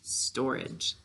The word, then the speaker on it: storage: one more time good so to spell it we say stower age when we're talking we say storage all right our next